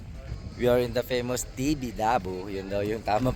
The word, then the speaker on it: Tibidabo: come here Kingo we are in the famous TV labu Yun daw yung tamang pagbigkas ng lugar na to So dito yung